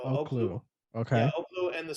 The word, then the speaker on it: Oklou: It's spelled Oklou. So Oklu.